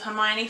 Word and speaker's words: Hermione: learn Hermione's name and Hermione actually says it out like my own knee and the reason why